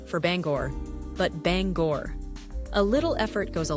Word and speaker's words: Bangor: For example, the border town of Cala is not pronounced like the French city, but simply call us. And it's not Banger for Bangor, but Bangor.